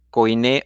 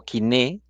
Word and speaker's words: koiné: fue escrito en griego koiné o kiné he oído las dos pronunciaciones por gente que habla griego antiguo que conoce el griego antiguo aquí tenemos un